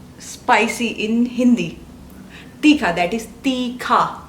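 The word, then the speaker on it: तीखा: spicy in Hindi Teekhaa. Teee---kha and not Tikka Yes Teee.....Khaa In Korean you can say Meyeyo Meyeyo!!, perfect making these Does it sound like mayonnaise?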